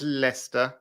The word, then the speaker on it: Leicester: I think they they they met the French and they saw how they put all these unnecessary letters into a word and then pronounce it completely differently and they said just hold hold my cup of tea here's Lester here's uh um how